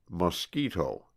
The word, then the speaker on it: mosquito: It is called a mosquito, pronounced mosquito, and it is perhaps